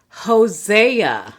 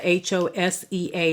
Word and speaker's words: Hosea: next book Daniel would be the next book Hosea Hosea h o s EA is the next book in the Bible Hosea